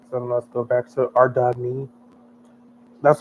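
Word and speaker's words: Ardougne: So, let's go back to Ardney. That's how you pronounce this city. It's our It's our Doug. That's Jagex said. It's not Ardone or Ard. It's our Ardney.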